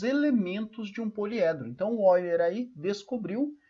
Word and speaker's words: Euler: relação de boiler né se escreve Euler mais se lê Olha o que que o